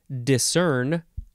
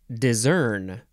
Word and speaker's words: discern: disc and a caliper next is discern or discern it's spelled d-i-s-c-e-r-n verb from The